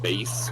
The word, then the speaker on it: Bass: I think it's actually supposed to be pronounced bass because his dog is named Treble. Oh yeah, it's all music stuff, but I refuse to acknowledge that.